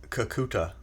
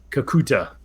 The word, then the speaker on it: Kakuta: know anything about uh kakuka how do you pronounce it again how what' you say kakuta kakuta yeah do you called the T at the